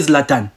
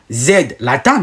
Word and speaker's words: Zlatan: Quand vous prononcez Zlatan, vous ne dites pas Z, Latan. Non, vous prononcez Zlatan. Vous le prononcez normalement.